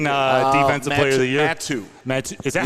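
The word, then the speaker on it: Mathieu: Matu. Is that how you pronounce it?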